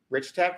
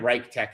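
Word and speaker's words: RichTech: Like if you already liked Rich Tech, I don't know how to say it right. I was saying it Reich Tech in my mind.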